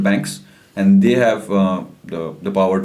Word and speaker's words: Baanx: separate independent company called Banks, and they have the power to like expand the markets and create expand this thing. Yeah, and Banks is spelled like BAANX.